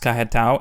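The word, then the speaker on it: Carretão: i didn't eat there kare tao pronounced kahatau in copacabana and ipanema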